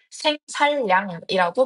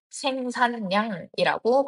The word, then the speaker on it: 생산량: 생산량은 니은과 리을이 만나고 있음에도 불구하고 생살량이라고 발음하지 않고 리을을 니은으로 바꿔 생산량이라고 발음합니다.